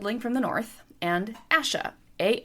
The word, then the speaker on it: Asha: OSHA like the Occupational Health and Safety Administration or Asha Awesha like you are in a Asha versus the other character who could also be pronounced Asha A ha or Asha. So in my head the way I pronounce these two characters when I'm reading the books is OSHA and Asha because that clearly separated them in my mind.